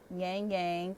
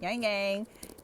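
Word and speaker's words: ylang-ylang: So then we have yang yang, and I think I be saying it wrong. Everybody say this wrong, however they want to say it. Yang yang. Yang is YLANG.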